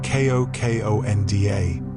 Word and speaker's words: Kokoda: Kokoda, pronounced Kokonda, is Fiji's national dish, and it captures the essence of the islands in a bowl.